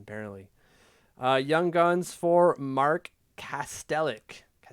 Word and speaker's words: Kastelic: I don't know if that's a soft C or not. Clearly, when it comes to hockey cards, they don't add the soft C there. But I'm going to say it's Kastelich because they don't have the accent on top of that C.